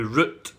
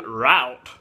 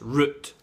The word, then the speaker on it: root: No, root is root. No fucking route, the way these fucking Yankees pronounce it. It's root.